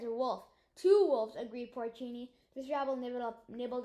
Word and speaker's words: Porcini: hot dog they finished every last crumb delicious pronounced porcini and that's how you made a cake cake